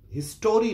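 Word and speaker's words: history: Okay fine, কিন্তু এইটা হিস্ট্রি, হিস্টোরি নয়। এখানে মাঝের ভাওয়েল ও এর উচ্চারণ হবে না।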